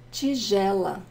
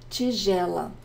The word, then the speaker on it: tigela: espátula, espátula, prato, prato, tigela, tigela. I have a lesson on the pronunciation of the letter G in Portuguese because sometimes it's a hard G and sometimes it's not, like in tigela.